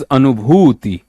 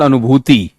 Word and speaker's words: अनुभूति: सो इट इज अनुभूति, अनुभूति, इट्स नॉट अनुभूति, अनुभूति.